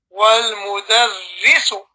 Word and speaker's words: والمدرس: So here is ri, not ra. You say wal mudarrisu.